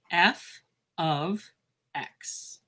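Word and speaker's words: f(x): And I pronounce it f of x. So this is called f of x.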